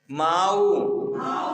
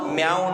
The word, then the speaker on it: माऊ: माऊ, माऊ संजुत्तानम, माऊ, माऊ म्याऊ नहीं, बिल्ली होती है ना तो क्या करती है?